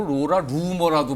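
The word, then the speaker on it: Laura Loomer: 로라 루머예요이라 루머 뭐 발음은 뭐 로라 루머라고 발음하고 로라 루머라고 발음이 되네요 하필 또 이름이 그러네요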